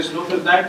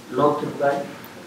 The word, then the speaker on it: Sloterdijk: Con eso termino, y es un preámbulo, es una aportación de Sloterdijk que nos permite llenar un vacío en la